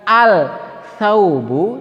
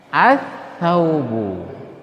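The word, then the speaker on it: الثوبُ: Sama contoh yang kedua, kita membacanya bukan al-thaubu tetapi kita membacanya as-thaubu.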